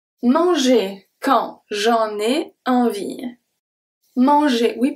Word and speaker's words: envie: Envie, the last E is not pronounced.